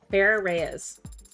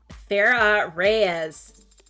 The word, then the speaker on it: Farah Reyes: your full name is far Rees and how is that pronounced like how I just said it Farah Reyes thank you your birthday